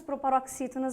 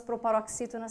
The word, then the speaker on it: proparoxítona: A palavra proparoxítonas, vamos dividir? Proparoxítonas. Conte as sílabas de trás para frente. Primeira, segunda, terceira. Ou seja, proparoxítona, acentuada.